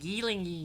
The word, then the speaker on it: Gyllenhaal: Yeah, Jake Gyllenhaal. That's how you pronounce his name.